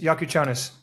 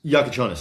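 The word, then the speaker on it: Jakučionis: Caspar Jakuchonis. Yakuchonis. Yakuchonis.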